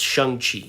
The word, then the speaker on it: Shang-Chi: Well, that's how Kevin Feige pronounced it. All this time, I thought it was pronounced Shang-Chi, because it's spelled Shangchi. I mean, we know how to say chi here in English from, I guess, the Cantonese or Mandarin word, but he said Shang-Chi.